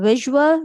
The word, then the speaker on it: visual: it before that in visual we have v a v u l But when we say this quickly this a is negligible here. This is the sure sound and the word will be visual.